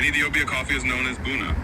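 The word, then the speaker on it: ቡና: In Ethiopia coffee is known as buuna, pronounced buuna.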